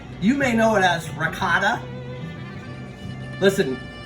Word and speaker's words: ricotta: York, Connecticut, New Jersey, we don't say ricotta, we say ragout. And listen, you should say ragout too. You know, there's no cultural appropriation. There's no geographic appropriation. That's just how you say it.